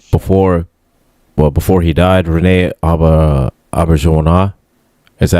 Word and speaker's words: Auberjonois: before he died, Rene Auberjonois. Is that how you pronounce his name? I'm not sure. Albert Genois. Yes. Yeah. Yep. Albert Genois.